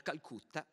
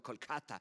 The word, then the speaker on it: Kolkata: nero e vive a calcutta pronuncio all'italiana sapete che la la pronuncia in realmente sarebbe qualcosa come kolkata ma noi in italia siamo abituati a pronunciarlo come lo vediamo scritto tradizionalmente dal 1931 al